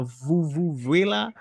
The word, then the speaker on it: vuvuzela: A vuvuzela or something? What is it pronounced?